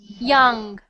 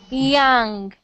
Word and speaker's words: young: you are doing J I want you to put the bottom of your tongue here and put the rest of it up like this y y young young no your mouth is closed open your mouth watch me young young young much better